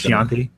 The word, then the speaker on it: Chianti: Fava beans and nice Chianti. Yes, Chianti. Yeah, that was on Except he says Chianti. He mispronounced.